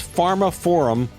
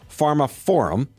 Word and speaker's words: Pharmaphorum: reporter and editor-inchief at Pharma Forum. That's Pharma Forum. They spell it weird. P H A R M A P H O R U M. Pharma Forum.